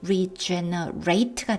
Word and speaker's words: regenerate: regenerate 동사면 발음이 regenerate가 되고요. 이렇게 형용사면은 그냥 regenerate입니다.